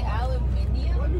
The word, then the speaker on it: aluminium: never knew this but I guess North Americans and Europeans spell and pronounce aluminum differently you say aluminium but you're adding an ey no you guys drop an eye there is no eye how do spell it